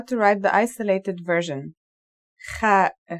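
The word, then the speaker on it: خاء: The last letter we learn here is the Kha. This letter, like the Ha, has no English counterpart. Kha is a sound some people make when they laugh.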